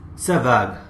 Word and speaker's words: Savart: यहां पर पिक्चर में आते हैं दो फ्रेंच फिजिसिस्ट, एक है जोबातिस्त ब्यो और दूसरे हैं फेलिक्स सेवाग।